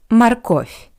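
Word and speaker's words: морковь: I want to remind you that the first O is unstressed. That's why it sounds like a marov. And one more moment, the voice softened consonant v at the end of this word sounds like a paired voiceless consonant f. Marco, not marov, but marov.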